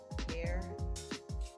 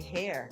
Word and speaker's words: Her: Her is pronounced like hair. Oh, it's pronounced how you say hair.